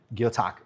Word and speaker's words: Gyotaku: Customs and Gyotaku Fish Prints. I Gyotaku, just said it yep. wrong again, didn't I? Say it again. Gyotaku. Gyotaku.